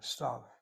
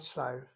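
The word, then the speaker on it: סתיו: Even if I write the Yud in there in the vocalized Hebrew, it's not pronounced, it's silent. The word for fall or autumn, stav. It's not stive.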